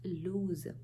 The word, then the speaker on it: lose: with homophones this is loser this is ending in e and there's an o but we still do not use our long oval o sound it is pronounced as lose and what does it